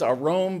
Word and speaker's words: arum: And the term there is arom. The word is arom, but in this verse it's spelled arum.